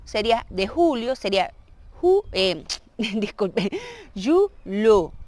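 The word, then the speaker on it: julho: Y luego sería de julio, sería, disculpe, julo. Es aquella pronunciación con LH, que es una L, pero vamos a ver,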